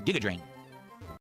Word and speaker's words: Giga Drain: Giga like Gigabyte? Oh, okay, so it's Giga Drain.